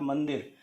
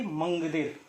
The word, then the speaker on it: मंदिर: आपका सही उच्चारण तब होगा जब आप इसके पंचमाक्षर वर्ण का प्रयोग करते हुए उच्चारण करने की कोशिश करेंगे, अर्थात मंदिर, ना कि मंगदिर।